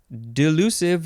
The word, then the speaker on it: delusive: this episode is delusive delusive with an S or a z sound d-e-l-u-s-i-v-e adjective from 1605.